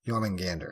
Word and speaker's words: Jormungandr: Yes, Jormungandr.